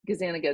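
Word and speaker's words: Gazzaniga: Gazaniga is how you pronounce his name.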